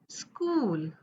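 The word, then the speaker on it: school: आलं की क बोलायच सी एच आल की क बोलाय एम्पल स्कूल श नाही होत सी म असं नाही होत त्याचा क उच्चार येतो स्कूल chorus C एच स्कूल okay स पहिल्यांदा घेतला एसचा नंतर सी एचचा क घेतला आणि स्कूल ओके जी य आल की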